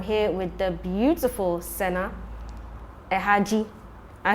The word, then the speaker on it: Ahadji: Art and Soul is still here just for you guys, and I'm here with the beautiful Sena Ahadji. I say it right. Ahadji.